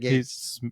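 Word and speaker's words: Gaetz: Yeah, Matt Gates. He's spelled like a fence gate.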